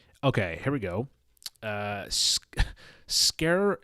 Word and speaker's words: Sker: here we go uh scare scare ritual this is it's spelled sker and then ritual it